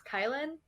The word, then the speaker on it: Kailan: the way everyone says my name which is kailyn because my parents originally apparently allegedly wanted to name me kailan which is how my name is spelled and how you would assume that it's pronounced yeah except i was